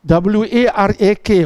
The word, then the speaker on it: warak: Yang kedua, kena ada warak. Warak. W-A-R-A-K. Warak. Ejaan Melayu tu pun tak tepat. K tu patutnya ain. Warak. Kalau W-A-R-A-K, warak. Tak apa tepat. Cikgu Amir, dia warak. Waw, ra, ain. Warak.